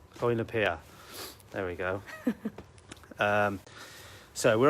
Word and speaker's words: Llwynypia: say the name of it because I can't pronounce it. It's Llwynypia. Llwynypia.